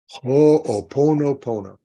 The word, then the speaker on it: pono: few things one is it's the pronunciation is poo oh oono Pono yeah um beautiful you